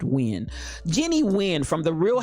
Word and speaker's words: Nguyen: jenny nguyen as n-g-u-y-e-n my understanding of that pronunciation of people that i know is pronounced when jenny nguyen from the